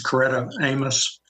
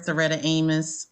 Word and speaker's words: Setta Amos: standards I believe and excuse me if I mispronounced your name was ketta Amos is the attorney representing the applicant correct that is Setta Amos um I am located